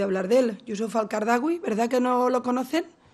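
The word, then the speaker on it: Qaradawi: lo he oído hablar de él yusuf al qardawi verdad que no lo conocen lo pronunciamos mejor producción fatal los nombres a graves y éste me va riñendo qardawi pero se escribe cada la uy ustedes me dirán y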